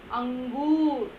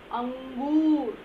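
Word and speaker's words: अंगूर: You have to pronounce ang, angur. You have to close your throat pronouncing it. Angoor.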